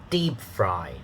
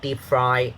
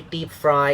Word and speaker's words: deep fry: to the ipa okay it's dada deep fry not deep fried if you say deep fry is da da so the stress pattern uh the the pitch pattern is not very good not dada deep fried wrong okay dada deep fry let's practice reading